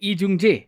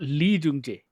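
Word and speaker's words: Lee Jung-jae: Yeah, that's why I said Lee Jung Jae, not Lee Jung Jae.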